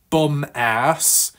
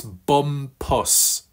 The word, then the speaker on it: Bumpus: bit of a mixup so it's not bum ass it's not bump ass but it's bum pus puss puss Bumpus puss puss I think I'm getting there with stress on the first syllable not the second right I've watched all